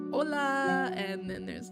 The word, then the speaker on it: hola: grader butt said this pronounced it like this hola instead of saying hola I said hola like with the H I cannot forget the